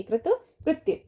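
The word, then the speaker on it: कृतकृत्य: हम कैसे आवाज आप पहले समझिए और सुनिए, कृत कृत्य, कृत्य कृत्य नहीं, कृत कृत्य।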